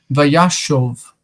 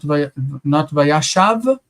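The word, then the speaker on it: וַיָּשָׁב: And so we need to read this second kamatz as O. It's a U quality vowel. Vayashov, not vayashav, but vayashov.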